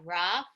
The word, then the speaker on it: rough: GH yeah and what what is the pronunciation of that GH like f in the okay which ones are saying the F sound with the and it's